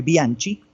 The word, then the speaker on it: Bianchi: Mi nombre es Bianchi, se escribe Bianchi porque en italiano se pronuncia Bianchi, la C con la H, Bianchi.